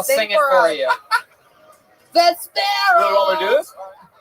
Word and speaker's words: Vespera: Vespera. Vesper with an A at the end.